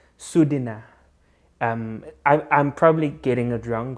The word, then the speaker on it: sodina: flute and then it's we would read it as s o d i n a so we would say sodina or something like that but they actually pronounce that o as a u so it's like sudina i'm probably getting a